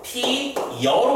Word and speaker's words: 피어: 꽃이 피어 어떻게 발음하냐면 피 여로 발음해.